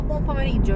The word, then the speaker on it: buon pomeriggio: No, buon pomeriggio really, because it's afternoon. Buon pomeriggio is the correct way to say it. Bunch afternoon is the way I say it.